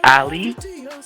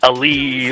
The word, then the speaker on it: Ali: So my name is properly pronounced as Ali. But I I I I don't take to heart if if people pronounce it as Ali or you know I'm I'm pretty open.